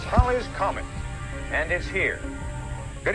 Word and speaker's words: Halley: to tell us that it should actually be pronounced Holly's Comet but by that point calling it Haley's Comet had already stuck news reports would transition